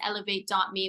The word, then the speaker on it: Elivate: and my website is eLIVate.me, which is not spelled like elevate, it's spelled ELIVATE.me.